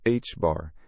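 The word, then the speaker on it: ħ: The symbol t pronounced hb bar is a fundamental constant of nature called the reduced plank constant.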